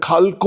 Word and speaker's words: Xalxo: খালকো ওনাদের উচ্চারণে এবং ওনাদের যেভাবে ওনারা বানানটা লিখছেন সেটা হচ্ছে XALXO, ভোটার তালিকায় সেটা চলে যাচ্ছে খালকো।